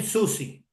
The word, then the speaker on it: Soucy: of the greatest musicians of all time Tim Susi I hope I pronounced it right you did great Tim Susi